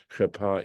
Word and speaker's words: cherpa: Even though it's got a vav, it's pronounced cherpa is a feminine word.